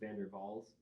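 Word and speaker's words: Van der Waals: I think it's German, so I think it is pronounced Vandervall's the V as a W.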